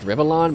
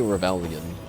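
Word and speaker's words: Rivellon: Our job is to destroy that which would harm Rivlon. You know, it's it's pronounced Rivalon, but I always say rebellion.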